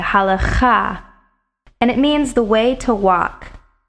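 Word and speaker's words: הלכה: Now notice I did not pronounce this word halakha. I've heard it pronounced many times that way in the English language, but the actual emphasis is on the last syllable in the Hebrew.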